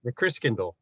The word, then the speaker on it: Christkindl: The Christkindl. Christkindl, that's how you say it.